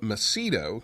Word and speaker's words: Macedo: It's Rob Macedo, KD1CY.